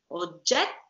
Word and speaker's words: oggetto: Oggetto. This is how you pronounce the double T while you speak. While you speak, not when you sing.